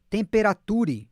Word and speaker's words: temperature: Observe como é que engole do meio para o final.